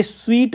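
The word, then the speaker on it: suite: ए स्वीट of rooms, इसका जो correct pronunciation है वो मिठाई वाला है, स्वीट।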